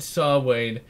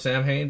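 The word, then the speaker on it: Samhain: Or is it Saw Wayne? See, like, I know it's not pronounced Sam Hain, but like if I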